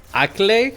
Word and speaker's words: Acklay: with that it's going to be the uh acklay stern that's how it's pronounced i need to wait i need to